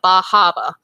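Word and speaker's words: Bar Harbor: Well, I'm assuming you're thinking about Acadia National Park and Bahaba and lovely Bahaba. area. Yes, you never pronounce the R's. You gotta get your Bostonian accent when you're going up there.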